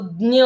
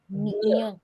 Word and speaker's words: ज्ञ: संस्कृत में इसको ये 2 उच्चारण हैं, और हिंदी में इसको ज्ञ कहते हैं। क्योंकि हम संस्कृत पढ़ रहे हैं, हम ज्ञ का उच्चारण करेंगे।